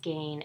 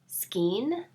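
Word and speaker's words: skein: I used to pronounce skayne as skeen because that's how it looked phonetically to me,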